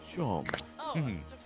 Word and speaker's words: Shawn: 19 bucks I said the name's Shawn pronounced Sean and this is my